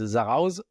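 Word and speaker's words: Zarautz: Is it Sarao? Yeah, you're not supposed to pronounce the T, so it's Zarauz.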